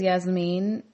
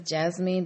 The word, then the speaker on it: Yasmine: Yasmine and Gino yasine she says Yasmine Yasmine and Gino says Jasmine but it's spelled Jas mean in English I guess the English way so she's from Panama